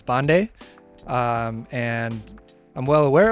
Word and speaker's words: Pandey: at school called me Pandy like we went by our last names a lot so the real pronunciation of my name if I'm really true to my roots is bande um and I'm well